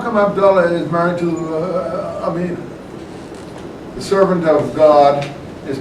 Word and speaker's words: Amina: I guess is it Amina how do you pronounce it yeah it's Amina the accents over the a yeah it's a long I always thought I